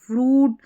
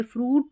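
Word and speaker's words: fruit: फ्रूट फ्रूट, juice, सूट और यह है क्रूज। यहां पर उ पढ़ रहे हैं।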